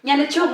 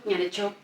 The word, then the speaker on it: Nyanechuk: Nyanechuk, not Chuk, Nyanechuk.